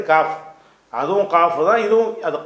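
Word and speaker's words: قاف: இந்த காஃப் காஃப்ங்கிற எழுத்து அது கான்னு சொல்லணும் கான்னு சொல்லணும் இது கான்னு சொல்லணும் இது தமிழ்ல உள்ள கானா அவ்வளவுதான் கேப் எல்லாம் சொல்லுவாங்க சில பேர் கேங்குற உச்சரிப்பே கிடையாது அரபில என்ன இது ஏற்கனவே சொல்லிட்டோம் கேனா மேனாவே கிடையாது கேப் எல்லாம் என்ன செய்வாங்க இது ஒரு கிராஸா படிப்பாங்க கேப் என்ற எழுத்து கிடையாது காஃப் அதுவும் காஃப் தான்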